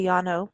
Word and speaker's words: Llano: I say Llano because I'm in southern Arizona. And that's how you say it. It's 2 L's, ANO. And this was in Vernon Parish.